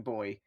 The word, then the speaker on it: buoy: them as they approach the bobbing boy. Spelt buoy for you Americans out there, because we know how to pronounce this sort of stuff.